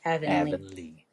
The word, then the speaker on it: Avonlea: Avonlea. Avonlea.